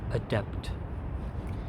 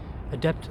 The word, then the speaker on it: adept: repeat after me identity make sure you pronounce the T at the end adept adept students just means you're